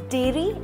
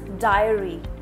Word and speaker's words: diary: not poam it's poem it's not dairy it's diary Diary Dairy is a different